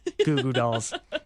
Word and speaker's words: Goo Goo Dolls: Two O's makes a ooh sound.